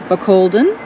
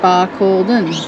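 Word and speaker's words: Barcaldine: how you say it we were saying balen pronounced Balon by Cen was named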